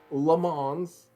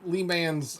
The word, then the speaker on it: Le Mans: le mans oh sorry i said i mispronounced it viewers i i apologize i don't know why anyone could possibly mispronounce the most iconic raceway in the entirety of the tally uh sorry the layman's lee man thank you thank you very much morgan uh lee man's uh circuit lee man's rhymes